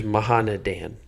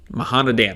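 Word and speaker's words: Mahaneh Dan: I'm pretty sure it's Mahana Dan. Mahana Dan.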